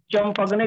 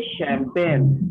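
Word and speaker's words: champagne: लिखा है चंपगने, लेकिन पढ़ेंगे पढ़ा नहीं ना नहीं सर। जाएगा। पढ़ेंगे इसे शैंपेन।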